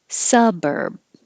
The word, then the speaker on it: suburb: like a z siblings suburb which has different stress than suburban number 12 suburb kappa